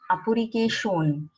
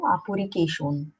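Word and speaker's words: アプリケーション: When there are letters like shun, Asian, ocean, we pronounce it with shon. So motion will be mo shon. Application apurike shon.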